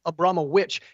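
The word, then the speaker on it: Abramović: way she lik lies her pronunciation of her name to be Marina aboit that's what she that's what she says is the real pronunciation name abrama witch and so I guess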